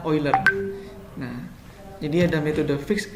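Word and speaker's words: Euler: spoiler Angeles yang ini tulisannya under bacanya uler Nah jadi ada metode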